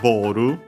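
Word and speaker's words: ボール: Again, actually, we have seen that the accent of Boru is unaccented. It's one of those English words from English that change their accent. Most of them become simply unaccented. Some change, as we have seen from like pocket, pocketto. But yeah, this is one of the unaccented ones.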